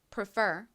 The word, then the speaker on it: prefer: 자,이 단어 같이 발음 연습해 볼게요.이 단어의 강세는 뒷부분 F 부분에 있습니다. 듣고 따라해 보세요. Prefer.